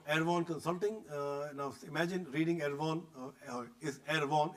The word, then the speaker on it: Erehwon: Now imagine reading Erehwon, is Erehwon, it's not H. He corrected me, H is silent, and therefore we had our morning jokes. It's Erehwon Consulting. If you read Erehwon other way around, is now here.